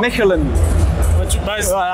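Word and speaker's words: Mechelen: ici c'est en francophone c'est maline et en erlandophone ouais c'est ça en français c'est maline et en erlandophone en flamand c'est Melen moi je voulais le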